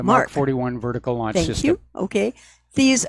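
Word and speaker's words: Mk 41: have reserved places for MK point 41 vertical takeoff missile launchers that's pronounced mark the mark 41 vertical lines you okay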